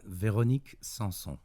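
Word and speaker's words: Véronique Sanson: Only because I don't have the pronunciation skills that you have. No, that's cool, man. Veronique Sanson.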